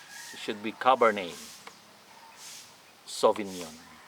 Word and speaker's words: Cabernet Sauvignon: the last end so you don't need to pronounce the letter t all right not cabarnet it should be cabernet sauvignon right i don't have